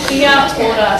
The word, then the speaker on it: kia ora: And learning the vowels in Māori, a, e, or u. Now that you know them, you shouldn't have a problem pronouncing kia ora.